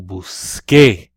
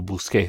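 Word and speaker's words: busqué: the reason is it it conserves that hard CUH sound so when the see when you need that for the see that it changed to a cue you so you'll Bousquet yo Bousquet so it sounds the same will scar you loose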